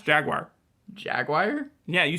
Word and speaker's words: Jaguar: all right okay uh how do you pronounce Jaguar Jaguar yeah you said wire with a like an i sound in in the midd there yeah but it's just Jaguar yeah um all right so this is about